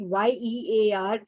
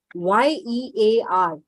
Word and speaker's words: year: is year year okay so y e a r has a year sound it is a year